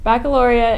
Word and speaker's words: Baccalaureate: Seniors, Baccalaureate (Pronounced: BACK-UH-LOR-EE-ETTE) is scheduled for Sunday, June 3 at 2:30 PM in the CSHS Auditorium.